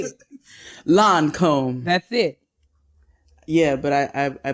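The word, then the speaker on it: Lancôme: Lancome.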